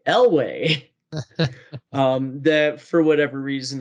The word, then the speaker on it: Elway: of your tops um the mispronunciation of john elway and the correction by butters in the theme song he loves john hallway elway um that for whatever